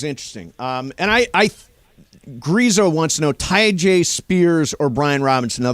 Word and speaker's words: Tyjae: How do you pronounce Spears' first name? Is it Tyjae? Tyjae.